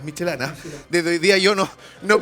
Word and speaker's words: Michelin: Segundo punto, para todo lo que le decíamos Michelin, no, es Michelana.